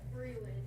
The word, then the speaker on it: Brillin: How about Brelin? Brillin. Just tell me how you say it. Brillin. Brillin. It's a weird one.